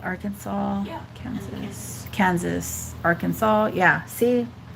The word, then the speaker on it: Arkansas: Like all the Arkansas, Kansas, like they have the same ending, but the pronunciation is different.